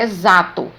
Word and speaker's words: exato: som de z na palavra exato é grafado com x mas não falo é chato eu falo é exato tem o som de z e existem sons que